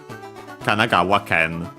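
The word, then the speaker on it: 神奈川県: Kanagawa Ken. So yeah, the accent there on the wa, kanagawa ken.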